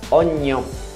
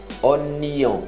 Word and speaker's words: oignon: Oignon. Oignon. Como se fosse nion.